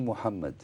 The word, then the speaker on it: Mohammed: articulation belle scansion et il dit Mohammed c'est il prononce tout à fait à l'arabe je ne sais pas comment on prononce mahomé ce qu'on ce qu'on a l'habitude d'appeler mahomé en français mais la prononciation est parfaitement arabe je sais pas s'il